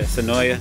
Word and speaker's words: Senoia: the show last year and it's annoy georgia Senoia sorry I keep saying it wrong but I